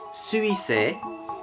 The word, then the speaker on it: 水星: En japonais, ça se prononce Suisei, et en chinois mandarin, ça se prononce Shoixing.